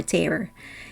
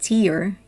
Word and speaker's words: tear: meaning of tear or tear he said if you pronounce it tear it's the tear that falls from your eyes but if you say tear it means to rip apart so which tear mean